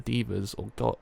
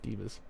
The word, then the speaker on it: Devas: In Buddhist mythology, the Asuras are the heathen deities that fought with the Devas or good deities. Devas, not divas.